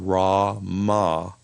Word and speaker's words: Rama: the remembrance practice is Rama Rah is regarded as a sacred name of God and once again you'll notice it has the a sound rahma in it and Rah was a